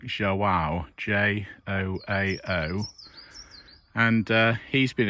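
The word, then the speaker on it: João: queen's veterinary school hospital i believe that's how you pronounce his name it's portuguese i think zhou wow j-o-a-o and uh he's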